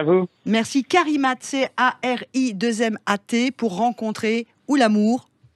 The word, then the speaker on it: Carimat: Carimat, je le prononce bien, Tristan. C-A-R-I-2-M-A-T. Donc car comme car et imat comme imat. Exactement, tout accroché.